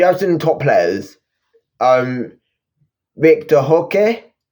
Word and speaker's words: Roque: Victor Roque. It's not Roque. The R is pronounced as a H in Brazil.